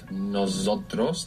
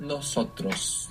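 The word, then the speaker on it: nos: which was very good most English speakers find themselves accidentally saying noos with a z not noos but noos it's an s noos or noas so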